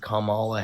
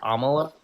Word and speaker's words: Kamala: Is it Kamla? Yeah it's Kamala.